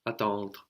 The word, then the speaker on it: attendre: to wait, which is attendre. Attendre. So the E is not really pronounced, although it is in some accents and dialects, but generally you just get as far as the R.